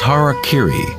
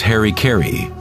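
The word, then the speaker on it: hara-kiri: one form of ritual suicide or seppuku was harak Kiri was often mispronounced as Harry KY it means to impale one's Hara thereby cutting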